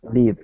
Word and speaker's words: live: One is a diphthong with that I sound, and the other one is a short I sound, live.